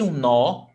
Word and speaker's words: nó: But nó, it's very stressed. Eu dei nó no cadarço. You see that one is stressed and the other one is not?